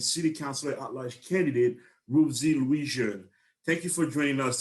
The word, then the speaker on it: Ruthzee Louijeune: and advocate and city councilor at large candidate rubesy louisian thank you for joining us today rosie thank